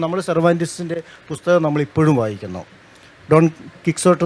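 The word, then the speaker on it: Don Quixote: ഡോൺ കിക്സോട്ട് എന്ന് നമ്മൾ പറയുന്ന ഡോൺ കിഹോട്ടെ എന്ന് മറ്റാണ് എൻ്റെ ഉച്ചാരണം.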